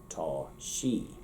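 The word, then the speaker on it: sé: too tall too tall shay notice that it's pronounced exactly like english as she but it's spelled s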